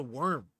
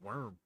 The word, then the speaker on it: wyrm: I think it's just worm. It's spelled like Wyrm, but I think it's pronounced worm. But I kind of like the name Wyrim.